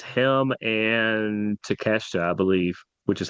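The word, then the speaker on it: Konosuke Takeshita: I think it's him and Teasta, I believe, which is how you say that. Don't say it phonetically. It will not come out right. Kenoske Teacha is how you say that guy's name.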